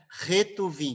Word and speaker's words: Ketuvim: ou ruvim tá bom você vai ouvir essas duas pronúncias aí a pronúncia a que a gente percebe mais correta é retu viim que seriam os escritos